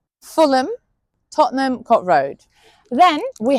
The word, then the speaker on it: Fulham: Then we have the ones written like ham but sounds like um for example Beckenham Clappam Fulham Tottenham Cot Road.